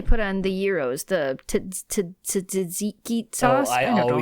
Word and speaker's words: tzatziki: And then there was the, that stuff that they put on the gyros, the tzatziki sauce.